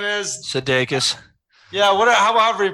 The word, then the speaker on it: Sudeikis: Did you see Jason Sudeikis, Sudaris, or whatever his name is? Sudeikis. Yeah, however you pronounce it.